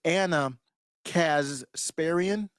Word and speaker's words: Ana Kasparian: pronouncing her name wrong it's Anna casparian I believe is what so it's hard to get that s in there so I've been Anna